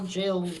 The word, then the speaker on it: Jael: pages see that's Jill her name is j e a l and it's probably not pronounced Jill but it Jael jail whatever that's the first page